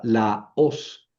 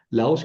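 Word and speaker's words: λαός: Ah, tenemos aquí también otra palabra, la os. La os quiere decir pueblo, ¿verdad? Son dos sílabas. La os no forma diptongo, no es laos.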